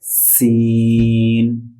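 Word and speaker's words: سين: কি বলে সিন সিন হ্যা সিনের উচ্চারণ শিখার জন্য আমরা সিনটাকে এভাবে লিখব সিন ইয়া নুন সিন সিন সিন সিন zipper আগা দাঁতের মাথায়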